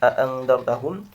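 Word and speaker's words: أأنذرتهم: Contoh di situ lafaz a'andartahum, a'unabbiukum, a'innakum, a'antum, a'amintum. Ya, termasuk lafaz ha'antum. Ya. Maka cara membacanya adalah hamzah pertama dibaca mad 2 harokat dan hamzah kedua dibaca tashil.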